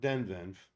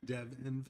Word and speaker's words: Devenv: Not Devenv. It's easy to say it wrong. Devenv.